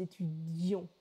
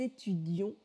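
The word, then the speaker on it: étudiions: C'est simplement la prononciation qui va changer. Présent, nous étudions. Imparfait, nous étudions. On doit entendre les deux I. Que nous étudions, subjonctif présent.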